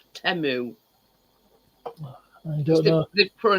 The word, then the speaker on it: Temu: Well, it's that we call Timu, and it's called. It's actually pronounced Temu.